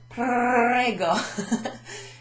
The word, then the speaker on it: prego: Now, for someone like me, it's often difficult to pronounce the see, I think I need a drink. The R. There you go. If you get it at the back of your throat, kind of prego.